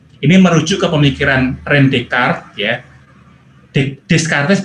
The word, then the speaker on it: Descartes: Ini merujuk ke pemikiran René Descartes ya. Descartes bacanya Descartes ya.